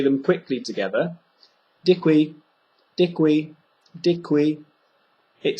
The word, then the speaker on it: děkuji: If you use the two English words dick and we, so dick and we, and you say them quickly together, děkuji.